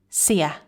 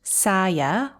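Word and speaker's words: ဆရာ: Do you notice the first syllable is very short and weak? Sia. Not saya or sayama, but sia. Jang sia. Much better.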